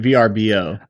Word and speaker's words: VRBO: Do you pronounce it Verbo or is it VRBO? I'm VRBO. I hate Verbo. I'm a VRBO. That makes See, that's how I say it is VRBO.